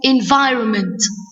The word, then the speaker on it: environment: Firstly, we will talk about what's the meaning of environment. We see that letter N in environment is a silent letter. I write it, but I can't say it.